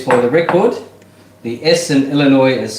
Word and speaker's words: Illinois: right Stacy Says for the record the Essen Illinois is silent now see Stacey I already knew that